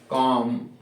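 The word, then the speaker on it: comb: आपको नहीं करना है, जैसे बॉम्ब, कॉम, टॉम, ये टूम, बॉम्ब, कॉम, टूम। तो जब भी एम के बाद में बी मिल जाए तो उसका प्रोनाउंसिएशन आपको नहीं करना।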